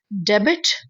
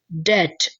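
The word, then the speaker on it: debt: डेबिट डेबिट नहीं डेबिट नहीं है ये है डे। डेट। ओके? इसमें बी जो है वो साइलेंट हो जाएगा।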